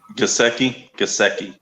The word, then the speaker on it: Gesicki: How do you pronounce it? Gesicki.